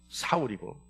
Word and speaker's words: 사울: 사울이라고 하는 거는 바울의 히브리어 발음이 사울이고 바울은 헬라어 발음이 바울입니다.